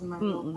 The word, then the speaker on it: Merlot: Oh, Merlot, you pronounce that as Merlot pala.